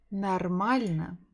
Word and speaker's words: нормально: Next one will be нормально. Нормально. Sounds close to English. normal. Nar, маль, на. Нар, маль, на.